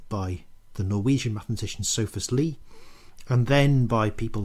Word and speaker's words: Lie: to know about lee theory is that it's pronounced lee theory not lie theory it's named after a guy called lee